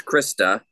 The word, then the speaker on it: Christa: older damn it no most people have gotten my name wrong most of my life it's Christa Christa by the way not